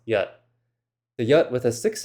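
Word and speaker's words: jat: There are two different words spelled j a t, which is pronounced yat.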